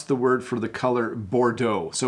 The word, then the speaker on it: Bordeaux: word for the colour Bordeaux so we do use the French pronunciation so in English we use Bordeaux if we say Bordeaux